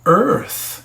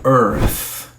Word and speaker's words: earth: Então, a palavra earth, a sílaba e a no nosso vocabulário em português, ou talvez soe diferente na língua nativa de uma outra língua. Não importa, tem que ser pronunciado forte na primeira sílaba e o th ele diminui earth.